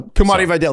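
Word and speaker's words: Kimani Vidal: yelled at me that I think it's Kamani Videl. So, well, I saw the uh the Coach Speak Index guy said he posted an interview where that's like where how he was pronouncing his name. Yeah. So, Kumani Videl. There we go.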